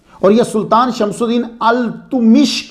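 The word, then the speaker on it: इल्तुतमिश: और यह सुल्तान शमसुद्दीन अल-तुमिश के गुलाम थे। यह प्रोनाउंसिएशन अल-तुमिश है।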